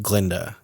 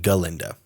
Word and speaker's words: Galinda: By Glenda now because the professor who was a goat pronounced her name Glenda instead of galinda and she's like I